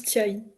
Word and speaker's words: Tia Hie: non, le H est muet et du coup on D'accord. prononce Tiaï. Thierry.